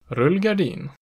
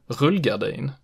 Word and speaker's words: rullgardin: dialect here, the pronunciation rullgardin is actually not the most common one. Instead, many southern speakers prefer the pronunciation rullgardin with accent 1.